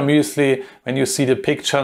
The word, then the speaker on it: muesli: the bill here muesli this is how you pronounce it in german i don't know how you pronounce it in English but in german it it's the bill sure muesli when you see the